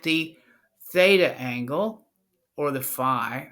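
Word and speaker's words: phi: Theta and the cosine Fe doesn't change because we're only looking at the Theta angle or the FI I keep saying F but it's fi f fof let me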